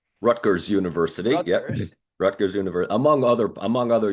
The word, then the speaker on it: Rutgers: I don't know if I pronounced that correctly. Rutgers University. Rutgers.